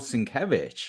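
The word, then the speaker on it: Sienkiewicz: other another one of those names is Bill sinkevich right oh no not gosh which I didn't know how to pronounce for a long time I would just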